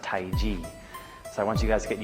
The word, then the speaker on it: Tai Chi: it's not pronounced Tai Chi, it's pronounced Tai Ji.